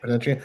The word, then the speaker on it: Potentiate: Is that the right pronunciation? Potentiate.